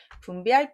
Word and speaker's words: 분비: 분필이라고 읽으신 분 많지요? 분비할 비라는 뜻입니다.